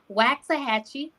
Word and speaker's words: Waxahachie: So make sure y'all see that NOI Waxahachie.